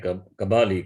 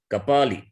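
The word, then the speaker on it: कपाली: Similarly, they say Kabali, Kabali, not Kabali. It is Kapali.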